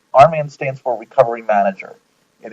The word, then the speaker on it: RMAN: about what rman is rman is spelled rmn and Arman stands for recovery manager